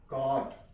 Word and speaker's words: caught: CAUGHT, H से पहले जी आ गया, जी आ गई है तो यहां पे जी साइलेंट है, CAUHT, काट।